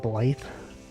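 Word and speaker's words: Blaidd: Characters in Elden Ring pronounce the wolf guy's name like Blythe.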